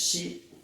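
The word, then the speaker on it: し: looks a little bit like Keith next is she she Japanese do not have a seat sound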